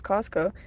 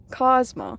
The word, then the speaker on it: Cosmo: Someone kept saying my name was Costco and not Cosmo on a game, and I named myself that.